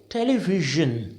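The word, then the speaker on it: television: एक और शब्द देखो आप इसको आप क्या बोलोगे देखो टेलीविजन बहुत अजीब लगेगा आपको टेलीविजन तो ना ज है ना जा है टेलीविजन राइट ज देखो एक अलग ही साउंड आ रहा है ना ये तीसरा साउंड होता है जो हिंदी में एजिस्ट ही नहीं करता तो जब वो हिंदी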